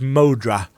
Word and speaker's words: Moadra: MRA there we go so I have been pronouncing it wrong it is modra o oo hello oh